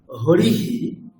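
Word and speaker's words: হরিঃ: রামহ এরকম উচ্চারণ হবে হরিহি এখানে ইকারের পরে বিসর্গ আছে তাই হকারের সাথে ইকার যুক্ত হয়ে এরকম উচ্চারণ হবে বিষয়টি বোঝা গেছে আচ্ছা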